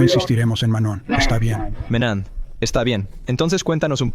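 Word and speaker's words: Manent: Y estoy pronunciando correctamente Pierre Menan. Probablemente no necesites decir la te chaman. Muy bien. Si quieres hacerlo en francés real, debes lograr el sonido nasal que puedes probar. Manón.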